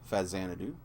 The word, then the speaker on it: Faxanadu: So here's another one, Faxanadu. Those in the know will tell you that it's actually pronounced Fazanadu, because actually it was the Famicom version of Xanadu.